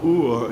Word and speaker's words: o'er: who don't know what o'er is. Well, of course, it's, I think, was probably invented by poets in the Middle Ages who really needed one syllable instead of the 2 syllables, over.